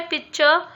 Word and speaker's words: pitcher: Now what do you mean by pitcher? So we'll pronounce it pitcher. Okay, C silent हो जाएगा यहाँ पे.